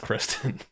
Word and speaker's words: Cristin: I I didn't realize it was even pronounced Kristen.